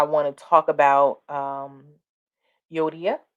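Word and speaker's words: Euodia: to talk about um yodiya you odia that's how you pronounce it and syntachy um and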